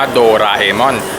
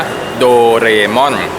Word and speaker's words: โดราเอมอน: โดรา เออน นะ ครับ คือ อ่าน ถูก วิธี จริง ๆ ต้อง อ่าน ว่า โดรา เอมอน แต่ ว่า จะ มี บาง คน เรียก ว่า โดเรมอน ที่ เรียก ว่า โดเรม่อน